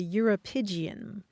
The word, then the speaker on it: uropygium: It's called the Europygian. The Europygian. Yes. I think I hear similarities to calipigian in there. You do. You do. Let me spell it for you. Okay. Uropygium.